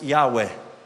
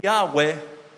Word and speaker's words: Yahweh: Porque, ¿vio cómo se escribe Yahweh? Es Y-H-W-H, no tiene vocales. Pero ¿sabe cómo se pronunciaría? Como un respiro. Yahweh, como un respiro.